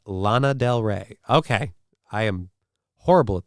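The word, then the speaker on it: Lana Del Rey: pew your boat gently down the stream it's pronounced Lana Del re okay I am horrible at these things horrible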